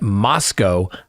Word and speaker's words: Moscow: So, so photographs from the interior of the residence at 11:22 King Road in Moscow, Idaho, rhymes with Costco, where four University of Idaho students were fatally stabbed, have been disclosed to the public for the first time.